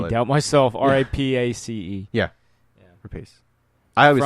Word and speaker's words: Rapace: R-A-P-A-C-E.